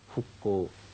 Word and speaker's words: 復興: と言いますね復興復讐の服ですこういう時に復興という読み方それからここに